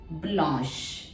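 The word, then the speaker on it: blanche: feminine में change करना है तो आप क्या स्पेलिंग लिखेंगे बी एल ए एन सी एच ई ब्लश ठीक है ब्लश उसके बाद में नेक्स्ट हम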